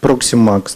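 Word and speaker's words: ProximaX: ProximMax, да. ProximMax, вот, правильное произношение.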